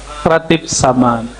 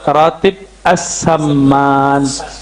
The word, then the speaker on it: as-saman: Ya, yang pertama tadi tentang ratib saman. Sebenarnya cara bacanya ratib as-saman. As-saman ya.